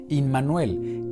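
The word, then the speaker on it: עמנואל: Un estudio detallado bajo la óptica de raíces hebreas nos confirma que Yeshua es Emmanuel, o su pronunciación en hebreo, Immanuel, que en hebreo significa Elohim entre nosotros.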